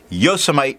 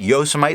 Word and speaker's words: Yosemite: green ink from Monteverde, Yosemite Green. For those of you that remember in the video that ever made it to the end, I mispronounced it Yosemite the whole time, knowing full well it's Yosemite.